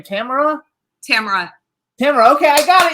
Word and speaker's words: Tamara: tomorrow um so Ron on the west coast it's Tamara in the midwest here it's Tamara and on the East Coast it's Tamara so in Brooklyn it's Tommy that too so yeah